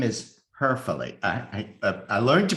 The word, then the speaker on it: Hoeferle: Her name is Hoeferle. I learned to pronounce it properly this morning.